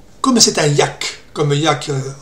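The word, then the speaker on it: Yacc: Mais pour contourner un jeu de mots, ils ont dit, comme c'est un Yak, comme Yak, ça se prononce de la même façon en anglais que le Yak, Yet Another Compiler, YA2C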